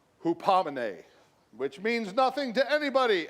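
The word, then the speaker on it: ὑπομονή: Steadfastness is from a Greek word and you pronounce it hupomone, which means nothing to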